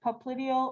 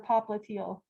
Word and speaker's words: popliteal: Behind the knee, and occasionally there's sort of two or so different pronunciations that are both correct. And for the back of the knee, you can say popliteal or popliteal.